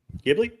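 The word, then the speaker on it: Ghibli: Gibli. You said it right. Okay. Some people say Jibli. I don't know. I always pronounce it Gibli.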